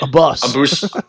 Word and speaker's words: Abus: And also, I keep hearing people call him Avis. I'm like, God damn, man. Like, pronunciation is not that hard, but I guess in this fight, A bus.